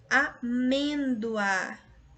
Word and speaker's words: amêndoa: Veja que quando nós pronunciamos a palavra amêndoa, nós até o som ali do O é U, porque é uma semivogal.